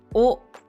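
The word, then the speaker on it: を: Donc le grand-père ou le vieil homme, le vieillard. Comme d'habitude, qu'est-ce qu'il fait? Yama e, en direction de la montagne. Takigi o, particule wo, qui se prononce plutôt o en général.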